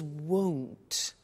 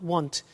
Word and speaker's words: won't: before you heard me with the money is won't be careful with the pronunciation it's not want its world so the example is I won't